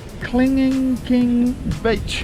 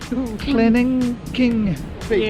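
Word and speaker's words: Kelingking Beach: Here we are, guys, at Kling King Beach, if that's the right way to say. I say Kling Kling, we're not quite... Kling King Beach. Yeah, we're just not getting it right, but that's alright.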